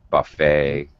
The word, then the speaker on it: buffet: It sounds like an A-Y ending. The T is, it's very weird. It's an E-T ending in English when we write it. But when we pronounce it, it's A.